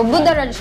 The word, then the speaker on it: Buddharage: po Oo ayan So ano ba Paano ba pagkabigkas niyan Ma'am Chelly so budha rage lang siya budha Raj Ano bang ano niyang